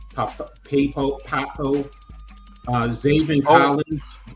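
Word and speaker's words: Pappoe: Poco, uh, Zav Collins. Yeah. Owen Papo.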